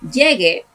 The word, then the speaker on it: llegue: Siempre que veas una tilde en español, just stress that syllable. For example, llegue versus llegué.